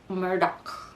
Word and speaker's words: Murdaugh: If you want to look it up, it's Merdaugh, and it's Alex, Alex, but down in South Kakalak, especially in the Low Country, we say Alec Murdaugh.